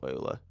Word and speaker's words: Euler: also, you were correct in pronunciation. It was Euler, Yeah, I've but taken a it is German all, course.